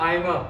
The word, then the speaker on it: Aimer: Next up, we have Ariana Aimer, which rhymes with Alzheimer, who wins most likely to become a dictator.